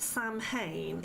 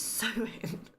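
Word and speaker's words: Samhain: So see, okay, why why spell it Sam Hayne if it's sewing? It doesn't sound anything like how it looks.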